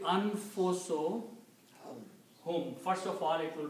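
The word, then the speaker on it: أنفسهم: When you combine these two and read together, you do not pronounce one dhamma here. It will be anfuso hum.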